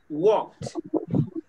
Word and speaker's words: walked: Walked.